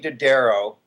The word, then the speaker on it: Dodaro: So anyway, Melanie Dodaro, am I pronouncing your last name correctly?